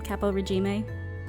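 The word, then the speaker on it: caporegime: Well, it's based in Italian, so I'm assuming it's pronounced something like that. Okay. Capo Regime, Capo Regime. It wouldn't be like Capo Regime? Yeah, it would be with the roll R.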